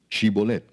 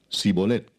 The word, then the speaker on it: Shibolet: Si él respondía: No, entonces le decían: Ahora pues di Shibolet. Y él decía Sibolet, porque no podía pronunciarlo correctamente.